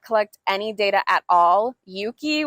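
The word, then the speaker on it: Euki: any data at all Yuki which is spelled e-uk-i I think it's like named after eucalyptus um these that app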